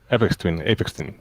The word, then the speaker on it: Aphex Twin: Aphex Twin.